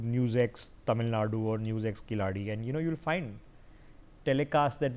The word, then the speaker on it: Kiladi: I've had to work on my pronunciation, which I know is imperfect. It's Kiladi.